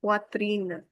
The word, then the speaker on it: poitrine: Why is the wa sound? This is in poitrine.